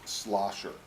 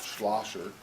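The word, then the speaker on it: Schlosser: a person by the name of Miss slosher she is the grant administrator for Minnesota homeland security now our first name is spelled the last week is more difficult slosher CH SDH excuse me schl er while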